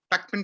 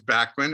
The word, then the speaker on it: Bachman: alive that kind of in England it's real quick it's Beckman Turner overdrive in Canada it's Bachmann and the states is Bachmann so I'm used to